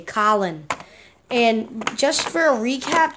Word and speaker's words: Colin: Colin, just say Colin. And just for a recap, do not pronounce it Colin or colon. It's C-O-L-I-N, Colin.